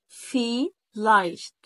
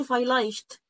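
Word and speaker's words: vielleicht: في لايشت، في لايشت، فهنا جاب لي النطقين مع بعض. ادي الاي ما بتقولش فايلايشت او فايليشت، مفيش الكلام ده.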